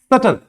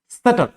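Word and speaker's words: subtle: प्रसन इसमें नहीं होता एक और वर्ड है सटल सटल बी यहां पर भी क्या होता है साइलेंट होता है एम वाले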